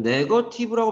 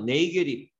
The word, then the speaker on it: negative: 물론 네거티브라고 발음하진 않아요. 네이게립. 네이게립 이렇게 발음돼요. 네이게립.